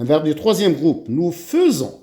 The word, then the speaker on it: faisons: Nous faisons. Attention, j'écris AI et je prononce E.